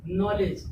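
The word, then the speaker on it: knowledge: क्या आया, ओ आया, तो के होगा यहाँ पे साइलेंट, के क्या हो जाएगा, साइलेंट। के बाद एन आया और एन के बाद एक वॉवेल्स आया ओ, तो के क्या हो गया, साइलेंट हो गया। देखिए नॉलेज यानी उच्चारण कहाँ से किया गया, एन से लेके किया गया, के को छोड़ दिया गया, ये लिखा क्या जाएगा, के से।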